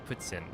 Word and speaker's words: poutine: someone had mentioned that I say poutine wrong and that it should be like putin and looking it up it's like yeah it literally is um if you're like French Canadian they say it like with like an S sound, which I don't know where that comes from.